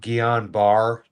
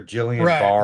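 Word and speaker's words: Guillain-Barré: Gon Beret. Gon Beret. But I've heard it pronounced Gillon Bar or Jillian Bar.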